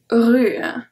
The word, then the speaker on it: rue: We only pronounce U. Une avenue, bienvenue. And the last one, une rue. Une rue.